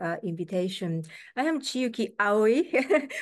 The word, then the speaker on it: Aoi: invitation I am chuki AI my last name is pronounced that way and I'm professor at